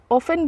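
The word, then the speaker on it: often: हो तो उसे हम ऑफेन बोलते हैं ओ एफ टी ई एन ऑफेन यहां पर टी साइलेंट होता है इसको हम प्रोनाउंस ऑफेन कहते हैं तो अक्सर का इंग्लिश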